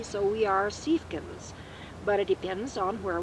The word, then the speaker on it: Siefken: So now we have learned to pronounce it as it's spelled, S-I-E spells C, so we are Siefkens.